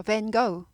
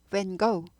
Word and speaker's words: Van Gogh: 근데 이제 영어에서는 이게 go 발음이 납니다. 그래서 Van Gogh, Van Gogh, Van Gogh, Vincent Van Gogh 이렇게 되죠.